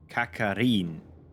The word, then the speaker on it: Kakarine: It's just Kakarine without pronouncing the E at the end. Kakarine.